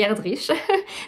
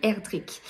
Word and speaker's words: Erdrich: sentence de Louise herdrick j'ai bien noté he la prononciation parce que moi je vous aurais dit herdrich mais non non ils ont bien dit herdrick c'est c'est pas du